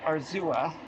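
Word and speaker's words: Arzúa: Okay, I think I was pronouncing it wrong before. It's Arzua.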